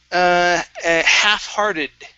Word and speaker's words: half-hearted: Next is half-hearted. Okay, half-hearted. So the L in half is silent.